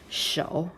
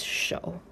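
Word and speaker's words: 手: because we have landed here then it is show yes it is show just that simple hand right okay i will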